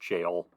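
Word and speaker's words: Gaol: Oscar wild yeah and I think it is pronounced jail reading jail it's a British thing uh the last Oscar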